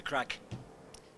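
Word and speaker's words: craic: And we have a very, very common term, and it is called, we love the crack. Crack is spelled C-R-A-I-C, and it comes from an old Irish word.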